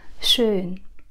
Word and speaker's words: schön: Không phải là sharp các bạn nhé. Nhiều bạn sẽ nói là schön sharp. Như thế thì không đúng.